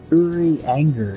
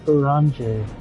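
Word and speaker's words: Urianger: or something wronger see i think it was uri anger is how i remember it but they don't pronounce the r so they were like oranje oranje it was like an orange yeah it was like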